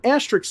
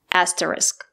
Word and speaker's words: asterisk: the sound SK not the word is pronounced asterisk not asterisk let's listen to